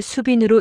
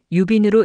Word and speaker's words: 수빈: 한자의 발음과 관련하여 수빈이 아니라 유빈이라는 의견이 있으나 현대의 대부분의 서적은 수빈으로 발음하여 적고 있습니다. 하지만 애는 수뿐만이 아니라 유라는 발음이 존재해 왔으며 수빈 박시 사망 당시에 한글로 쓰여진 진양문과 애문 상시문에는 모두 수빈이 아니라 유빈으로 기록하고 있습니다.